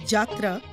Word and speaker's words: Jatra: Yatra, pronounced as Jatra, is a 500-year-old form of folk theatre in Bengal, Orissa, and Assam.